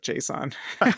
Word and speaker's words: JSON: And by the way, can I just point out my gratification in hearing someone else call it Jason instead of JSON?